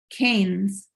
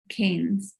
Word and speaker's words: Keynes: you can apply these canes canes pronounced Keynes okay John Maynard Keynes if you want to